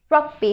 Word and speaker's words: rugby: Rug is in the first syllable.